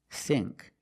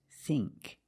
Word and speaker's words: think: Now let's look at the combination of ink, like think. We use the long E sound, think. Other words, sink and link. You see ink, you make the long E sound, like green beans. Listen to the sound. Think, sink, link. It's the long E, not the short I. It's not think, it's think. E, think.